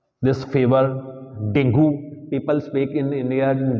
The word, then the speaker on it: dengue: it is allceptable but in English its pronunciation is Dengue right yes pronunciation is Dengue it's not Dengue so your communication skill